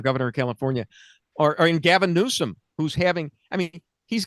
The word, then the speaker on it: Newsom: I like I like I like Newsome running because his name rhymes with gruesome and it makes it really easy to write limmericks about him.